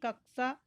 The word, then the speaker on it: कक्षा: कक्षा शब्द का शुद्ध उच्चारण क्या होगा? ऑप्शन ए कक्षा, ऑप्शन कक्ष, ऑप्शन सी कक्षा, ऑप्शन डी कंक्षा।